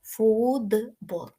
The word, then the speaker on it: футбол: кожного типу асиміляції тобто якщо ми маємо слово футбол по-перше цей тип асиміляції теж можна перевірити за допомогою вимови Ну бо це звуки ми вимовляємо тобто пробуємо вимовити футбол відчувається це д правда тепер пробуємо зрозуміти Б В нас дзвінкий б впливає на Т так що Т стає д тому ми з вами маємо фудбол Отже ж в нас